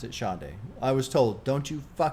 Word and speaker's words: Sade: sha it's spelled s a d but you pronounce it Shae I was told don't you dare call her Sade you get killed you'll die from it apparently